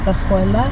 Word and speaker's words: cajuela: Abre la cajuela, por favor. Abre la cajuela. What? Cajuela. Cajuela, like yes. Abuela.